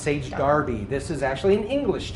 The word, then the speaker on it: Sage Derby: is called sage darby it is spelled sage derby but it's pronounced sage darby this is actually an